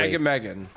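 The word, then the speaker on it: Agamaggan: All right, and the next one, I can never pronounce this name. Is it Agamagam? Yeah, I think you got it, actually. Agamagam.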